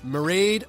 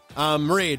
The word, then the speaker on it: Mairead: With nuclear engineer Mairead. Mairead rhymes with parade.